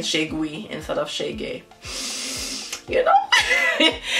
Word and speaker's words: Cheguei: And it's Cheguei. I was saying Cheguei.